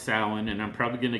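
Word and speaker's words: Samhain: event which is called Sam Hayne weekend now I know it's pronounced sin and I'm probably going to get a call from Glenn Danzig telling me this but we're calling it The Sam Han weekend and we're showing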